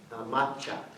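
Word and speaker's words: 抹茶: And it was the Song Dynasty style of making tea, which is the powdered tea that's in with macha in the Japanese pronunciation.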